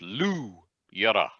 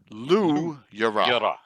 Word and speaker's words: Looyara: The gem is Looyara, but it's pronounced Luyara. Luyara.